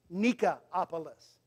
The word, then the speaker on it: Nicopolis: In the Greek, it would probably be pronounced Nikopolis.